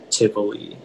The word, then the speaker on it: Tivoli: Are there any alternate pronunciations? It's just the one, Tivoli.